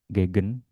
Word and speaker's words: gegen: Gegen. Apotheke ini juga sama. Apotheke. Ich gehe. Jadi sama ya, ini kalau yang E-nya ada banyak. E yang di depan itu dibacanya E. Yang di belakang E biasanya ya.